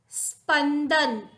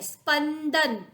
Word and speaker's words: स्पंदन: अंधड़, अंधड़, मिट्टी, मिट्टी, स्पंदन, स और प जॉइंट है, स्पंदन, शुद्ध उच्चारण हमने कर लिया।